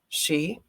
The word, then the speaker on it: sidhe: the sheep the east she or the dinashi many modern mystics use simply she um spelled s-i-d-h-e book pronounced she so some of you